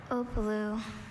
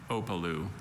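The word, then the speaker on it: opelu: Opalu. Are there any alternate pronunciations? Just the one, Opalu. Watch the middle syllable. Middle vowel. Opalu.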